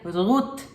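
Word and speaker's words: רות: algumas mulheres da Bíblia rut em hebraico se pronuncia rut e vem da palavra reut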